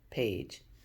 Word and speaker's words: page: There's an E at the end. Remember, that's the trick. The A gets to say her name. So the E is going to be quiet as we do this word. P-A-J, page. And that G making that J sound again.